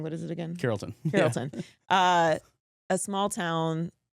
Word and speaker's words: Carrollton: That I'm mispronouncing. What is it again? Carrollton.